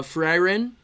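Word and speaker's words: Frieren: so like uh uh for iron which is how you pronounce it by the way I look this up freyrin colon Beyond Journey's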